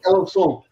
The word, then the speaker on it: Alençon: Alancon? How do you say that? Alençon.